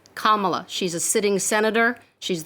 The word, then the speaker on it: Kamala: of mispronouncing her first name her name is pronounced kamala not kamala not camilla it's kamala she's a sitting senator she's the first woman